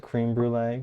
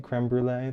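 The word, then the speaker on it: crème brûlée: knowing so thank you creme creme brulee like that not cream brulee creme brulee that makes more sense it is spelled like crem this is what I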